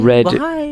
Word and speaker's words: read: too fast and like read read that's a weird english word where it's like spelled the same but type the same dude we say it differently red red is the past tense of reading do you guys know